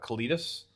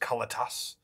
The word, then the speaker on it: Kalitas: And it's like, I remember from back in the day that Kalidas is pronounced Kalitas, which is stupid because nobody calls it that.